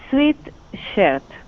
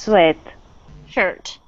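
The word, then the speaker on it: sweatshirt: she asked she asked how much is a sweet shirt and it's pretty pronounced sweat sweat sweat shirt sweat okay shirt okay uh so this this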